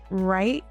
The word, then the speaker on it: right: Silent W often appears before R. Examples include right, wrong, wrist, and wrap. Even though the spelling starts with W, the sound starts with R.